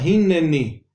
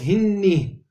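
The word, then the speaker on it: הִנְנִי: vemos en la pantalla, hineni. Si no sonase ese shva, diríamos hinni, que no tiene sentido, está mal dicho, hinni.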